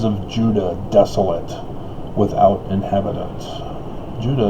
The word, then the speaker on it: Judah: judah desolate without inhabitants judah is phonetically the same as utah from the original hebrew phonetics not the english corrupted european version with the j thanks spanish j becomes